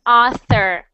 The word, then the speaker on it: author: swims it's very cute you don't want to say that he was friends with an otter because everyone thinks we'll think he's crazy so he must sound like author okay next one next